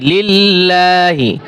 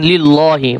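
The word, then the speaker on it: لِلّٰهِ: ওয়াজলিল্লাহি সুর আল জিন্নাওলাহ ওলাহ ওবানাতিবিলমলিল্লাহি এইখানে কিন্তু আল্লাহর লামতলা হবে লিল্লাহি অনেকে ভুল করে পড়বেন লিল্লাহি পড়া যাবে না আবার এখন আমরা বানান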